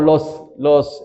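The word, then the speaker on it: לא: Cuando los judíos dicen no, dicen lo. En inglés el no se pronuncia de una manera, en alemán de otra manera, pero en hebreo es con lo.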